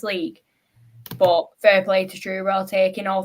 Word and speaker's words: Truro: I hope I pronounce this right. Is it Truro? Yes, Truro.